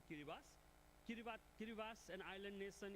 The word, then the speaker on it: Kiribati: Kiribati but when we pronounce we say Kiribas.